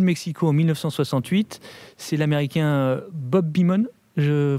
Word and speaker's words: Bob Beamon: Depuis les JO de Mexico en 1968, c'est l'Américain Bob Beamon, je prononce bien ?